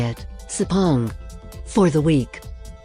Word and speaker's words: Sepang: A guy I met on the train from the airport told me how to say it, Sepang, for the week.